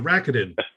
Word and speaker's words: Rakuten: RAKU, the number 10. So Rakuten.